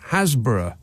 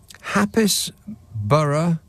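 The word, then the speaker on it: Happisburgh: Romford texts hi Nick hburg in Norfolk is pronounced Hasbro or for crying out loud what a shame to replace the happy part of the word word yeah well exactly hapis Bur or happy zbur in Norfolk is pronounced hasb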